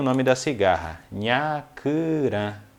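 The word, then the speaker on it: nhakurã: Então, cigarra, nós chamamos no Guarani de nhacurã. É bem difícil de pronunciar, mas vocês podem pegar a pronúncia.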